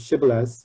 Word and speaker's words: shibboleth: hebrew dialect uh but one group cannot pronounce shibboleth as sh as a fricative they pronounce as a stepson like sybilus so people can use